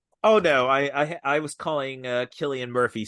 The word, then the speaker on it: Cillian: Whitehead if I get your name wrong. I'm sure he's Right. listening. Oh no, I was calling Killian Murphy Cillian for so long. Is it Killian?